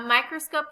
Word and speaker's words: microscope: There are three syllables in microscope. In the third syllable, the vowel O is followed by the consonant P and E. The final E is silent and the O before it has a long sound.